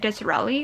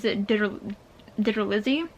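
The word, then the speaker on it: DiTerlizzi: my entire life yeah i thought his name was like disrelie or something but his name is digger lizzy digital izzy wow i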